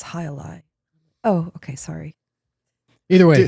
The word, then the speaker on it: Jai Alai: I was like, "Can I get the JLA?" They're like, "It's Alai."